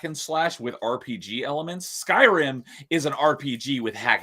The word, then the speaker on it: Skyrim: I'll probably pronounce it wrong. Skyrim or Skyrim? Is it Skyrim?